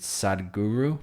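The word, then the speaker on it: Sadhguru: wrong please correct me is it sad guru guru i said it right yeah you got it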